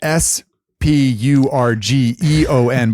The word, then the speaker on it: Spurgeon: And just so everyone knows, um, it's spelled S P U R G E O N, but it's not pronounced idiot for those of you that have been seeing him on the street lately.